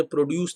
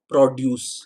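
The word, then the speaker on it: produce: खरीदने की, क्या, फार्म प्रोड्यूस, प्रोनाउंसिएशन मैंने प्रोड्यूस नहीं बोला, मैंने बोला प्रोड्यूस, there is a difference. प्रोड्यूस एक ऐसा वर्ड है जो वर्ब और नाउन दोनों होता है, किसी चीज़ को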